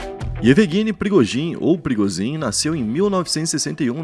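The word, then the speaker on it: Пригожин: No vídeo de hoje, a gente vai falar de Prigozhin, o jeito certo de falar é Prigozhin.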